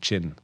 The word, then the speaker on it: Qian: And I pronounced it right saying Chin. Yes, Chin.